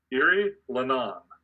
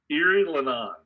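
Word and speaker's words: Erielhonan: Erie Lenon. Excellent, Carl. Correct. Where's the H at? H is silent. The H is silent? Yes. I thought it was, okay. Erie Lenon.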